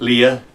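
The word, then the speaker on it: Liath: to the Capo um here's my my cat Leah it's spelled l i a t that's Gaelic for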